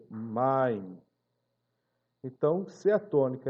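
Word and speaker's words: מים: Então, que no caso aqui a palavra águas, main, não é maim, mas é main.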